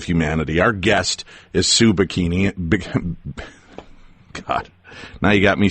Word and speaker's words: Pighini: Our guest is Sue Pighini.